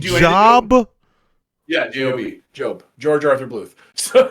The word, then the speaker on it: Job: Satan goes, his name is spelled Job. Yeah, J-O-B.